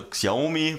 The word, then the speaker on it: Xiaomi: Also Xiaomi wird es geschrieben, Xiaomi wird es ausgesprochen.